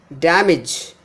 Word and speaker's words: damage: Next one is damage. Da and midge. Damage. Not damage. If I give stress on the second syllable, it becomes damage.